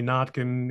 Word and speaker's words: Notkin: your your name Melanie notkin you spell you say it you spell it like it sounds is your handle and